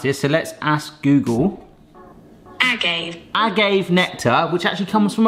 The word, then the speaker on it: agave: It is in the aisle in the supermarkets next to honey, and I've always wanted to know how to pronounce this, so let's ask Google. Agave nectar, which actually comes from a plant called the Blue Weber agave plant.